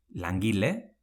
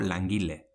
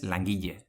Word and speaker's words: langile: or ollo, never heard langile: we can say langile or langille, never langiye and Maila: malla or